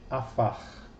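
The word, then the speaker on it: עָפָר: Se vocês se lembram bem, a letra P sem o dagesh, ela tem um som abrandado que é de F, né?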